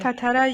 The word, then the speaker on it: Tatara: And I was like, but the tartara, let's talk. Did I say it right? Tartara? Tartara? Tatara, yes.